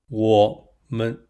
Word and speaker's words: 我们: What's interesting is that the second syllable of woman aligns with the pronunciation of man, which we use in 我们 to signify we or us. 我们.